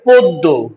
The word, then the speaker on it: পদ্য: তাহলে শব্দের শুরুতে অ আছে অ এর পরে জফলা আছে তাহলে সংত হয় তার মানে অটা ও এর মত উচ্চারণ করতে হবে পদ্য হয়ে যাবে পদ্য গদ্য হয়ে যাবে গদ্য